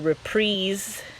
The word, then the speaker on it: Reprise: On the Reprise, Rhymes with Knees label.